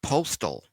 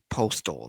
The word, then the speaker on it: Postl: Happy birthday to Dylan Mark Postal. Great name, but you would know him better as Hornswoggle. Happy 38th. Good guy. Yeah. Dylan Mark Postal, not Postal but his last name is spelled Postl.